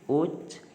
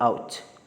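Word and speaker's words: ouch: Interjection, सो interjection के भी कुछ एग्जाम्पल्स हैं: ओ, वाह, हुर्रे, हुर्रा, हुर्रे, एंड गी, ओच, इसको आउच, सॉरी इसको प्रोनाउंस करते हैं आउच.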